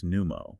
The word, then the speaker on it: pneumo: If you delete the silent P from the prefix pneumo and spell it n o o o m o, you destroy the international visual language of science.